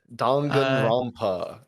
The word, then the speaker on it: Danganronpa: Danganronpa 2. Good pronunciation. I hope I pronounced that right. Yeah, Danganronpa.